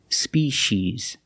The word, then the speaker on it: species: has a different pronunciation it makes the sh sound species and remember it is